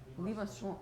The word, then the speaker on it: Limaçon: Limaçon. See, I would have gone with a hard C there. Limaçon. Thank you. It feels French. Feels French. Yeah, that's French.